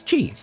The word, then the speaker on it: qi: According to AI, it's Chi.